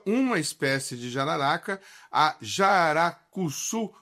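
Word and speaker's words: jararacuçu: e ela estuda uma espécie de jararaca, a jaracuçu, pronunciei correto, Eletra, é isso mesmo?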